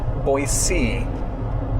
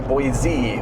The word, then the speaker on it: Boise: local to Idaho that it is Boise. And that was like a C as in the letter C? A C as in the ocean, yes. Oh, okay. That by saying it with a Z, a Boise, flags you as someone from California.